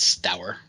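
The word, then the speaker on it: Stour: do you say it stower sour how do you spell his name in the in the book s-t-o-u-r okay that's stower that works all right stower uh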